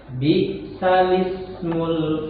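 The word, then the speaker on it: بِئْسَ الِاسْمُ: Jadi di sini cara bacanya bi'salismul fusuqu. Jadi bi'salis. Nah, begitu. Jadi bi'salis. Jadi langsung bi'salismul fusuqu ba'dal iman. Jadi bi'salismu. Bi'salismu. Asalnya itu bi'sal ismu.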